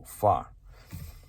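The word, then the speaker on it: pho: that's spicy far soup that's how it's pronounced p h o far so spicy noodle soup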